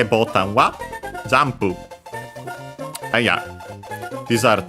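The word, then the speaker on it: ボタン: from Portuguese, botão, and it's also unaccented, potentially also because of that, and also because it came in Japanese way earlier, and yeah, that's why it's also from Portuguese.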